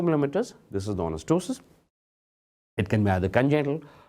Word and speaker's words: ptosis: The ptosis, the p is silent.